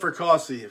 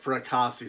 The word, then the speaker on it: Fracassi: them by all means author philip fercassie philip fracassi say it right author philip fracassi 1l